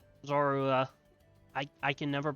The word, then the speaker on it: Zorua: That's the uh Trist is the uh Zora. Zorua. I I can never pronounce that correctly.